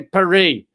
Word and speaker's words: Paris: here's the thing uh you know how they P pronounce Paris in France they say perie but I'm not saying